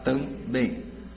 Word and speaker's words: também: Se eu for separar, também. Sílaba tônica, bem, não é também, né? Também. A oxítona termina em EM.